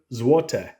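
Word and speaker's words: złote: is really interesting because how you say it depends on the number so this one right here is Juan zote zote and if it's two to four it's pronounced a little bit different and again I'll try my best but this is to zote so it's a little bit different and if it's five or more it's zotek zvotec so very interesting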